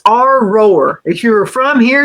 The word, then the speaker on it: Aurora: Aurora. And he said, "It's our roar.